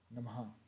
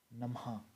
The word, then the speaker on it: नमः: तो विसर्ग इसका उच्चारण जो है वो ह के समान होता है, जैसे कि प्रतः, नमः।